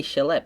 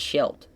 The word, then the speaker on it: Schilt: I always want to say Shillette, but I think it's Schilt. I think it's Timmy Schilt. That's how you pronounce that.